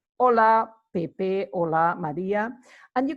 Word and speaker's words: hola: Ola Ola is hello notice that we don't really pronounce the H in Spanish it's me so anytime